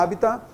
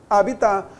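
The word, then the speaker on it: habitat: dessa palavra habita opa no latim não tinha assento mas nós devemos acentuar então a habitá tenha sinto agora a segunda forma que eles no carro o dicionário eles colocaram também a nossa pronúncia chamada pronúncia vulgar habitar porque nós geramos a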